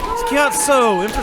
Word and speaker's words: Chiazzo: Chiazzo. Emphasize the so.